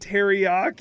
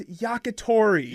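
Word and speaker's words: yakitori: Jose said teriyak. Not on a stick, though. He's incorrect. You were so close, Jose. You were saying all the syllables in different orders. Grilled skewer chicken in Japan is yakatori.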